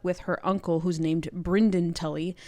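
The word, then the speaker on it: Brynden: her Uncle who's named bryen Tully it's very funny it's spelled b r y nde n very very like Southern baby girl like Brenden this is Brandon Grace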